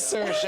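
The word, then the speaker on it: Saoirse: How would you pronounce this? Is it Cersa? It is Cersa.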